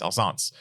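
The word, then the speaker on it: Alsace: later on um storg yes how do you pronounce that Al s a c alash alance alance yes alance it is now a border City in eastern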